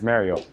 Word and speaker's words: Mariel: It says pronounced Mariel. Mariel. But it's Mariel.